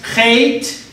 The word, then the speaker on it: chet: It's pronounced chet, with the A, Fe, Be, Tse, Re.